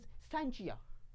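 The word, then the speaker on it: scientia: लफ्ज़ जो साइंस है नाजरीन वो लफ्ज़ साइंटिया से निकला है, ग्रीक जुबान का वर्ड है जिसका मतलब है नॉलेज। समटाइम्स इस प्रोनाउंसिएशन इज साइंचिया।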